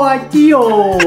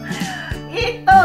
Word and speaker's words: ito: Wow, kayang kaya ko atio. Is that right? Ito, not atio. Oh, atio. No, ito. Say ito. It says ito. No. But it's pronounced you ito. You read it like yeah. E, not I.